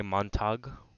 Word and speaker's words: Montag: his name is Guy Montag it's like montage but without the e so Guy Montag and